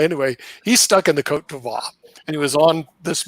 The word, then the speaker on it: Côte d'Ivoire: Côte d'Ivoire. I knew I got it wrong. Okay, Côte d'Ivoire. Okay, you got to have that French pronunciation. Côte d'Ivoire. Okay, anyway, he's stuck in the Côte d'Ivoire.